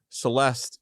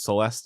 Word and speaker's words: Celeste: been informed go on Celeste impax mhm Pax is Latin for peace so it's Celeste in peace and Celeste rhymes with rest so it's like rest